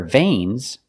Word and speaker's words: vein: connect tubes to their veins, we use the word intravenous. Let's look at the pronunciation difference. Veins. The word vein is pronounced with a long A sound, like day and say, vein.